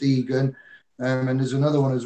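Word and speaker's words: Igan: Max Egan, spelled I-G-A-N though, but it's spelled pronounced Egan.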